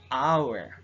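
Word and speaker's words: hour: our we are not we are not uh saying howard okay h is the silent silent letter so we are uh saying this word our this is bowel shunt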